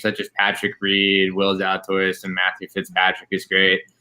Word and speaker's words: Zalatoris: Zalatoris, Yeah, in 31st right now.